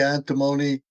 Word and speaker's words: antimony: Is it antimony or antimony? What do you say? We say antimony.